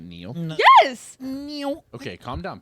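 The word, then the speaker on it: Niall: name wrong Neil NE you pronounce it Neil yes NE okay calm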